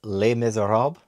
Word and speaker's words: Les Misérables: I'm kidding, I know this is not pronounced that way. It's Les Miserables.